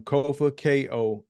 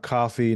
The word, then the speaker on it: Kofa: So I am Kofa, Kofa, not coffee, not kufu, not kofi, Foo-foo. or any or any variation thereof. Kofa rhymes with sofa.